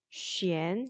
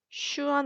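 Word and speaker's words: xuan: 그러니까 쉔 이렇게. 슈안 아닙니다. 예. 슈엔 아니고요. 쉔 이렇게 읽어줘야 됩니다.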